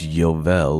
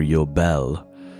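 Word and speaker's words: יובל: of jubilees and so in Hebrew it's not jubilees it's yovel or yobel pretending on how you would pronounce it so that's what you're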